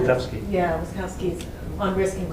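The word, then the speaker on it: Wildavsky: Witkowski.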